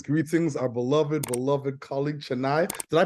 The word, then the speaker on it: Chenai: so greetings greetings greetings our beloved beloved colleague chenai did I pronounce that right and what does your name